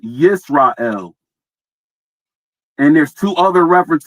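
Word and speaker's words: ישראל: So 3478. It's pronounced Yisrael.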